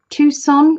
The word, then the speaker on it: Tucson: to Tucson is it is it Tucson is that have I said that right Tucson you don't you don't pronounce the C is that Arizona I'm